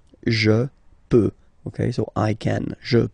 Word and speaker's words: peux: Final X not pronounced here, okay? So you get the X, but you don't pronounce it. So basically you get the sound peut, je peux, okay?